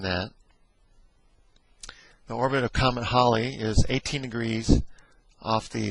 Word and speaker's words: Halley: named after Halley, Sir Edmund Halley, sometimes called Halley, Halley's Comet. That's generally the way it's called in the United States, but it's most likely pronounced Halley.